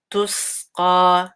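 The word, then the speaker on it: تُسْقَى: تسقى. Again, dhamma here, so make sure it's like clear on your lips. تسقى, and then qa is heavy, and 2 counts.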